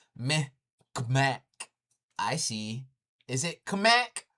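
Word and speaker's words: Mi'kmaq: And it's not Micmac. It's Meh K'mac.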